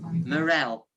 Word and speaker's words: Morell: Morell.